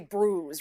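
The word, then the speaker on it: brewis: I believe it's spelled B-R-E-W though. B-R-E-W-I-S. Yeah. Because I always thought it was brews. We say brews, right?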